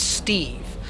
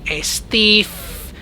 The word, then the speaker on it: Steve: But people just couldn't pronounce it well, so they were always saying Estif, Estil, like put a little L or an F at the end of it.